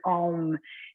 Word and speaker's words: Om: This is a really interesting, first of all, Om is actually 3 sounds, 3 syllables together, A, U, and M, A, O, M.